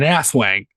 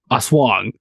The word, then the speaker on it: aswang: How I like to pronounce it, it's called an asswang. But I think it's really pronounced aswang.